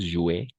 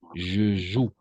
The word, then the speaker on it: joue: No es jouer. Je joue. Esta parte vamos a pronunciar je joue. E a la fin no pronunciamos prácticamente nunca.